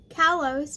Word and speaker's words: Kalos: Kalos, my bad.